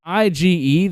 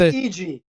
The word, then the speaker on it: Ige: but on the uh it's ige the guy who main evented the ufc card last night i thought it was eg eg yeah no one no one knew how to pronounce this guy's name but they were saying i gay i don't know how you get i gay from ige but hey